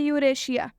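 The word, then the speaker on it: Eurasia: country का नाम है यहां देखिए यूरेशिया यूरेशिया में भी एस है और इसके बाद से आई और ए आया हुआ है रूल में बताया गया था कि एस के बाद आई आएगा तो इस इस का उच्चारण तलाब श से हो जाएगा यूरेशिया का मतलब भी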